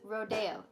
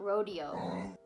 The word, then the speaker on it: Rodeo: they're rodeo drive and trust me it's rodeo it's not rodeo whatever but i was watching youtubes and i'm like why are they saying rodeo it's spelled rodeo no it's actually called rodeo drive but it's a stunning